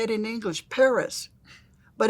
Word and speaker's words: Perez: um I noticed that the talk show host said Paris and I said she probably told them do not pronounce it Perez, you know, I Why else would they pronounce or stress the correct syllable if nothing else?